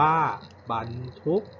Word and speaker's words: บรรทุก: คำ ว่า บาท ทุก ค่า บรรทุก อ่าน ว่า บรรทุก อีก ครั้ง นึง นะ ครับ คำ ว่า บ่าย